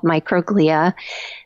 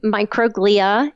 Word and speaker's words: microglia: very enigmatic cell in the human brain called microglia that we only now in the past five